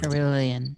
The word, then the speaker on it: Kirlian: I was studying Kirlian photography. I think that's how you say it. That's like one of those 14 things, right? Kirlian, yeah.